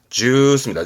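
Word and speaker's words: ジュース: 주스는 장음이 들어갑니다. 주스입니다.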